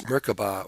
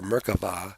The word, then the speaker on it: Merkaba: one world to another in Hebrew meraba pronounce merkaba or merkava has two meanings one